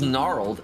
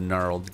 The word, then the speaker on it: gnarled: Just killed the gnarled gargoyle. Gargoyle. When I was a kid, I used to pronounce it gnarled. Gnarled. That sounds it's even like, cooler, you don't dude. know what letters are silent.